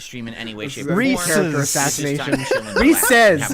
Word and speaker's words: Reese's: stuff is pronounced correctly let me tell you Reese's anything else is banned go ahead snoo thank